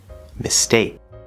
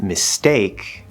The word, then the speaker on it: mistake: example titanium tenacity tobacco mistake now you'll notice if you listen really closely with mistake it almost sounds like it's a d sound kind of and we saw this